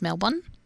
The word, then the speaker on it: Melbourne: British friend the other day Melbourne here is pronounced Melbourne I can heal it yeah the suburb can